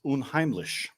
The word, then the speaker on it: unheimlich: It is German, like Gesundheit. It is unheimlich, and it is the German equivalent of uncanny or unhomely.